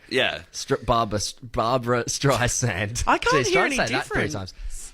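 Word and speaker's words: Streisand: times it's it's a it's a s not a zed oh Z yeah Barbara stri sand zand not zand right wait which one's right sand is right with the S with the S Barbara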